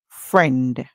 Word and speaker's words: friend: So, this word, friend, fr, remember the I is silent.